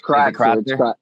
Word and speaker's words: Crotser: Be sure not to miss Crotser. Am I saying your last name right? You are. Sure. It's Crotser. Yep, it's German.